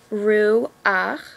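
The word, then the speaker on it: רוּחַ: The correct way to say it is she-ach. This only happens when a chet and the a come at the end of a word. So a, she-ach, ru-ach, lu-ach, mo-ach, o-re-ach, bo-re-ach, ya-re-ach.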